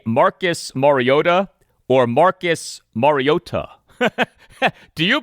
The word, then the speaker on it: Mariota: Do you prefer to say Marcus Mariota or Marcus Mariota? Do you prefer to say his last name with the T pronounced like a D or with the T pronounced like a T?